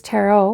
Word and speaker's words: tarot: to to pronounce tarot in the U.S it's Tarot in Europe it's taro some believe it's tarot but I I haven't I don't know that but you know how that goes with language if enough um pronounce it that way it becomes a valid pronunciation just like tarot became a valid pronunciation from Taro so anyway that's an